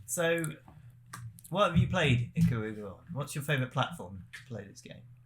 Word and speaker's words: Ikaruga: Ikaruga. Yes. Sorry. Yeah, I there we completely go. forgot. Yeah, Sorry. yeah. The spiritual successors of Smouldering Switchblade. Switchblade. That's the one. Yes. So, what have you played Ikaruga on?